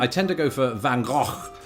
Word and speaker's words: Van Gogh: tend to go for Van Gogh like that so it's a very guttural throaty sound. How do you do it? Van Gogh Do you keep it simple?